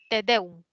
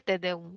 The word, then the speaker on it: tedeum: La siguiente palabra, tedeum. ¿Lleva tilde o no lleva? ¿Qué No dicen lleva. muchas? No lleva, excelente. Es una palabra que es aguda, te deum, ¿no?